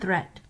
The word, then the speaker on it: threat: don't call it deed watch out for meat and great and threat they rhyme with sweet and straight in depth so there